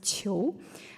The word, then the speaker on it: Qiu: And then Qiu, that's my last name, is pronounced as Qiu. And then Qu, and the last one is Qiang. So Q is pronounced more like cheese sound.